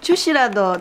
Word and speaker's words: 주스: 겁니다 아이고 뭐 저 주시라고 드시니까 주스를 주시라고 발음하는 것도 요즘엔 잘 쓰지 않는 옛날 사투리라고 하네요이 집을 꼭 사야 하는